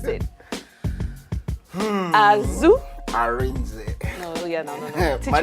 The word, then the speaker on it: Asuh Arinze: But I know I'm not pronouncing it well, so he's going to teach me how to pronounce it. Asuh Arinze. No. My name is Asuh Arinze Junior.